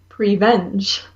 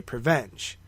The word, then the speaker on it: Prevenge: Prevenge. Or you can say Prevenge, because there's no hyphen there. It's one word.